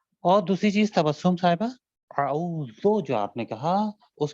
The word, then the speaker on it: اعوذ: اور اعوذ غلط ہے بلکہ اعوذ, اعوذ صحیح ہے.